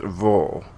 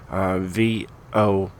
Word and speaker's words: Vuhl: Just to make sure, because a lot of you guys might call it the Vuhl or something else, but it is pronounced Vuhl. VOOL is an acronym for the grammatically questionable vehicles of ultra, lightweight, and high performance.